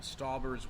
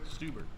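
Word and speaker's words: Stauber: What are your thoughts on Jack Stalber's work? It's pronounced Stuber. Stuber.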